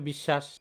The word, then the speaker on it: বিশ্বাস: আমাদের অস্বীকার লিখতে হবে একইভাবে বিশ্বাস বিশ্বাস বানানে আমরা দেখতেছি বফলাটা আছে তাহলে বফলা থাকার কারণে সটা দুইবার লিখতে হবে আর শেষে যে